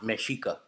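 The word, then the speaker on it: Mexica: Aztec were called the mesika and it's spelled me X IA but it's pronounced mesika no doubt thank you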